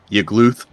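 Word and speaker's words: Yagluth: Yggluth? Yggluth! Yggluth! You gotta choke on it a little bit when you say it.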